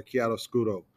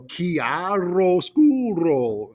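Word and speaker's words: chiaroscuro: us all to remember the correct pronunciation for KI scuro so she made us over pronounce whenever we talked about it so she made us go kiaro scool and uh really move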